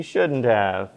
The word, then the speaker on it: shouldn't have: may have noticed but the have and shouldn't have is not pronounced very clearly it sounds like the contracted form of have but it's written out